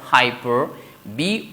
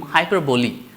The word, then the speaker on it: hyperbole: o l e so this will not become hyperb but of course this will become hyperboy hyperboy so the last e will have a sound of short vowel e sound so this will become hyperboy right and of course NE